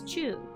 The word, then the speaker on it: 中: You might remember from before that the first kanji is pronounced as chu.